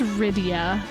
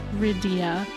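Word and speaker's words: Rydia: It's Ryia. Ryia. They even pronounce it that way. It's supposed to be like Lydia, but they just stuck with the R.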